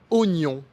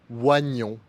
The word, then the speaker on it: oignon: Attention, il existe une exception pour le mot oignon qu'on ne prononce pas waignon.